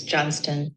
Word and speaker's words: Johnston: Alex Johnston. Ooh, Alex pronounces Alexandra Johnston as Alex Johnston. That's information. And there's a T in her last name, which a lot of people don't realize.